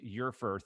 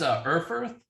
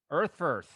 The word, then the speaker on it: Erfurth: So everyone, please welcome Eufurth. Did I spell it right? Eufurth? Did I say it right? It's Erfurth. Erfurth.